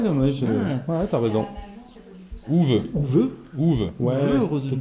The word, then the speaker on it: Uwe: Ouve.